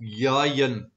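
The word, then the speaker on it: יין: Yod Yod Nun, and it's pronounced Yayin, and it refers to wine.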